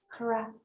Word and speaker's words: crumb: and then of course since the letter b is silent it's only just there for show okay uh we just have to forget about that so i want you to focus on the sound crumb yes beautiful you see